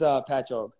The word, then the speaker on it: Patchogue: How do you think it's pronounced? I asked. All right, yeah, a lot of people say it like that. It's Patchogue.